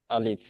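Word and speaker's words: ألف: আসে তাহলে দেখেন এখানে এই আলিফটা উচ্চারণে আমাদের দুইটা জিনিস মনে রাখতে হবে। কয়টা জিনিস? দুইটা। নাম্বার ওয়ান, আপনাকে দুইটা। এটা কুইকলি উচ্চারণ করতে হবে, অর্থাৎ তাড়াতাড়ি উচ্চারণ করতে হবে, তাড়াতাড়ি পড়তে হবে, ঠিক আছে, তাড়াতাড়ি।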